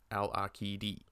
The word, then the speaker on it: Al-Aqidi: it's an Arabic name, so I pronounce the Q as a K, and the I as an E, so it's Al-Aqidi.